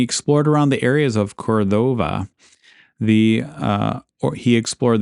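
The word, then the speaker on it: Córdoba: Um, he also named the spot Puerto Cordova or it might be more properly pronounced Cordoba. Uh, they put the accent over the first O, which isn't normal in Spanish.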